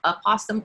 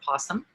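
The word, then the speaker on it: opossum: prevent the the opposum it's pronounced aasum or posum both are correct um the snake venom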